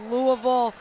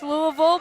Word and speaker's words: Louisville: out to the Louisville, as is I'm pretty sure supposed to be pronounced Louisville, but here in the Metro Detroit area they say Louisville. I don't think that's necessarily how you're supposed to say it, but definitely wanted to